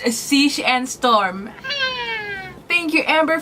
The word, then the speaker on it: Siege: it as amazing they finally know how to pronounce this it's Siege and storm thank you Amber for letting me